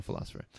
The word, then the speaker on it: Pholosopher: That's Pholosopher, the Philosopher, but of course pronounced the Philosopher.